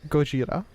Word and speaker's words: Gojira: The name Godzilla is actually Gojira, which is the Japanese character Go, Ji, and Ra, which comes from a combination of Gorira, which is gorilla.